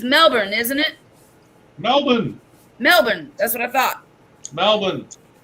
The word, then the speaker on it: Melbourne: Melbourne. That's what I thought. Melbourne. East Melbourne. I'll go to East Melbourne. In Florida. We have a city called Florida. Have you ever been to Melbourne, Florida?